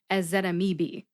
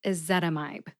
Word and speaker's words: ezetimibe: to sound it out I used to say something like as that amibi okay I said it all right I screwed up I didn't know how to say this one but now I know it's a zetamide thanks for joining me